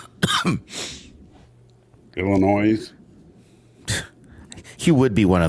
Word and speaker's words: Illinois: know how it's pronounced drives me nuts when people pronounce the s um Illinois he would be one